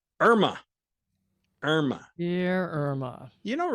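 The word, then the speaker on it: IRMAA: hidden tax which is called irma that is spelled i-r-m-a-a then you will wind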